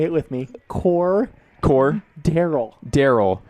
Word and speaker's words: Cordell: Cordell. Cordell Patterson.